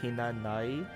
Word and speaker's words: Hinanawi: My name is Hinanawi with a silent W. I'm a Celestial. Just like Tay. Good to know. I never knew that. So it's like Hinanai.